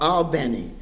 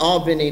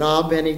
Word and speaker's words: Albany: georgia near the railroad called albani not albany like we pronounce it up north but albany georgia and i learned how